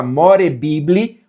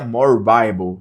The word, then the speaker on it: More Bible: Na hora de digitar se digita more bibly, mas a pronúncia é more bible, certo?